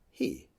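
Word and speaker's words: היא: Now, we would write it as hi and pronounce it he, and it is Hebrew for she.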